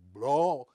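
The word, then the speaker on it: Blaauw: And then the second one was Gerrit Blau, however you pronounce his Dutch name. It's probably something like Blau, but it's B-L-A-A-W. You at the end, yes.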